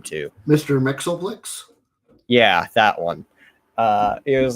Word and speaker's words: Mxyzptlk: Mxyzptlk, yeah.